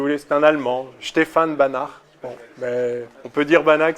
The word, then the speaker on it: Banach: pas du tout simplement j'ai pensé allemand parce qu'on parle de prononciation je pensais moi la prononciation allemand que je ne savais pas comment on prononcés en polonais donc on dit bana bana prévu donc c'est